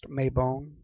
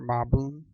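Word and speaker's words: Mabon: now we go to may boom it's also a pronounced may bone or mob boom this is the autumn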